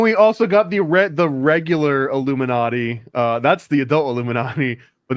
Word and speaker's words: Illuminati: Got the Illuminati. Illuminati. I don't think I say it right though. Every time I try to tell somebody, they think I'm saying Illuminati, and I'm like, no, it's like naughty.